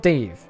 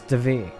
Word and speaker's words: Duvet: back to the ship it's not Dave you could easily be convinced his name as Dave from the spelling but no it's duvet and to make sure